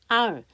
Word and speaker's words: I'll: 근데 이렇게 축약형은요. 뒤에 단어가 꼭 나와요. 그래서 뒷단어를 편하게 하려면 아예 모음을 묵음처럼 빼버리세요. I'll.